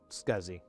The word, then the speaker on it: SCSI: Forever I used to pronounce it si. I had no idea that it was phonetic. that that was the preferred way to pronounce it. Scuzzy like I got these SCSI cables.